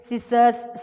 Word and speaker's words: scissors: Decent, discipline, seed, muscle, scissors, send. S sound is here pronounced. Here in the above words, the letter C is not pronounced.